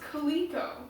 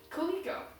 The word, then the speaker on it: calico: the screen right now and there was the word calico and it's spelled CA o ICO and I was like oh that's pronounced Kaliko so for the longest time after I read that book which is amazing I just pronounced the word calico Coleco a nice sometimes still